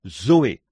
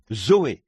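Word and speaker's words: ζωή: Et en grec, pour dire la vie de Dieu ou la vie éternelle, on se sert du même mot que l'on prononce, Zoé, Z-O-E, Zoé, la vie.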